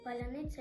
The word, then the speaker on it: паляниця: можна доїдати шматок паляниці у слові паляниця є важкі букви яким росіянам дуже важко вимовляти це наша и та м'яка ц а також є перехідни до м'якого ця візьми волки хліб духм'яний